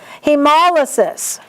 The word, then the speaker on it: hemolysis: Hemolysis. There's only one way to say that word. The accent is mol.